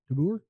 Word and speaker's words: DeBoer: Speaking of the Stars, speaking of Dylan's hockey teams, did you see the news that can't pronounce his name? DeBoer. DeBoer.